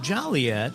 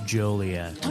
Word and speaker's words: Joliet: the woman said even though it looks like Jolly yet and people are very jolly here it's pronounced jolet and I was like hacky as all get